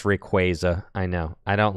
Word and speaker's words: Rayquaza: It's Rayquaza. I know. I don't like it. It's Rayquaza. How do you say Arceus? It's Arceus. It's not Arceus. It's Arceus. Yeah. That is Arceus. It's Arceus. It's Rayquaza.